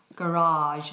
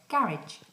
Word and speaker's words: garage: store your car and in a America they call it a garage they do a long vowel in the middle garage but we say garage garage um okay some people